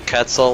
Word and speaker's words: Quetzal: It's probably Quetzal, like Quetzalcoatl.